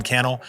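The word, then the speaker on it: Cannell: in the show notes my name is canel rhymes with YouTube channel and I can't wait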